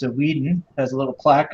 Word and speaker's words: Weeden: It's a Weeden. It has a little plaque on it. Weeden, how do you spell that? W-E-D-E-N. W-E-D-E-N or W-E-E? Weed, as in smoke.